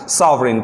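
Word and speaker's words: sovereign: Next है हमारा सॉवरेन।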